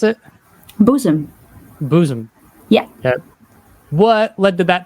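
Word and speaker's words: Boezem: Is that how you pronounce it? Bozem. Bozem.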